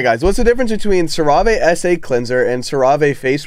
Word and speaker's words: CeraVe: What's the difference between CeraVe SA cleanser and CeraVe face wash acne treatment? It's pronounced CeraVe.